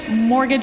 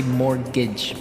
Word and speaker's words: mortgage: I mean, there's a this strange mortgage with a T. Yeah, it has a T in it, but you don't pronounce it. You say mortgage.